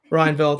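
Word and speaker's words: Rijneveld: the 2020 international booker prize winner marie lucas renek velde i hope i'm pronouncing that last name correct ryanville thank you which country is he from uh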